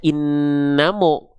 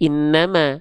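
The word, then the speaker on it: إنما: Ya udah, mim kan enggak dibaca innamo, tapi innama.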